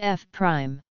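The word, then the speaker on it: f′: function called F is denoted by F pronounced F Prime for instance if F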